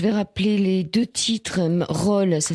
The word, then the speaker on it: Rol: Roll, ça s'écrit R-O-L.